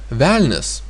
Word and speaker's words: velnias: Then we have again a soft consonant n and s, because a is pronounced like e, and that means we have a soft consonants and the ending s.